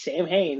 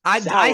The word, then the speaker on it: Samhain: to me, come Samhain, props for you, Mike, for pronouncing it right. Because a lot of people think it's Samhain. It's Samhain, said, people.